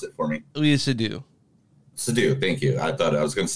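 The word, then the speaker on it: Léa Seydoux: this movie is I'll pronounce it for me, Lea Seydoux. Seydoux, thank you. I thought I was gonna say Seydoux, I know I was going to, but Lea Seydoux.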